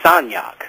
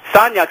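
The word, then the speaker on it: Sagnac: to the e by the name of George sonak and that name that last name is spelled s a g n a c I'm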